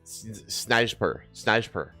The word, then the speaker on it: snajper: Sniper. Snajper. There's no J. It's just Y. That's a J, though. Yeah, but they pronounce their J's as Y's.